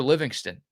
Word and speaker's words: Livingston: And can y'all stop hitting me with the Living Stone? It's Livingston. The TV announcers told the story. Craig Way on the radio broadcast told the story. I know how it's spelled. Parker wants it said Livingston.